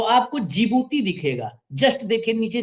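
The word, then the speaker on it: Djibouti: Yemen के अलावा आप जब नीचे देखेंगे तो आपको जिबूती दिखेगा। जस्ट देखिए नीचे जिबूती, वो जिबूती की स्पेलिंग डी से शुरू होती है, DGJI, तो हाँ, हाँ। वही है जो डी से है, वो जिबूती है।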